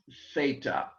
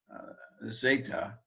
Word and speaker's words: theta: thin uh theta uh unless you're learning greek and germany in which case you would say zeta and not theta because i think in germany because they can't say th sounds they learn it as an s sound but greek speak at